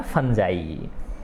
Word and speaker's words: fungi: तो ये होता क्या है बेटा, फंजाई, है ना। वैसे नॉर्मली हम देखेंगे तो फुंगी बोलेंगे ज़्यादातर कोई बच्चा, ठीक है ना, लेकिन ये इसका उच्चारण कैसे होता है, फंजाई होता है।